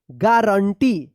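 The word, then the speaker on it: guarantee: थे हम क्या पढ़ेंगे गारंटी जी यू ए आर ए एन T double E गारंटी यहां पे यू साइलेंट रहेगा ठीक है तो देखिए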